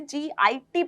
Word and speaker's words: GIT: अब इसे गिट मत बोल देना, इसे गिट प्रोनाउंस नहीं करते, इसे GIT प्रोनाउंस करते हैं।